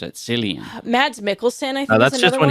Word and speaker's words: Cillian: It's pronounced Also- Killian. Cillian. Yeah, I would have pronounced it Cillian.